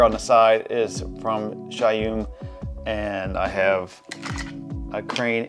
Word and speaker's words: Zhiyun: uh if you don't familiar with shayum I used to say zayum I always pronounce it incorrectly they're almost like now